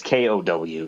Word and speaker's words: Otani: Ko Otani. Okay. Is that how it's pronounced? Ko Otani? It's Kow. So there's also like accents over some of the letters, and I can't remember which ones.